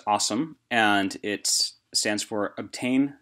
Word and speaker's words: OSEMN: Um, it is pronounced awesome and it stands for obtain, scrub, explore, model, and interpret.